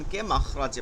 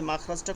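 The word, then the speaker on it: مخرج: কোন বাংলা শব্দ না উচ্চারণ হলো মিম খ মাখ মিম খ জবর মাখ র জিম জবর রজের মাখ রজের মাখ রজে আমরা সবাই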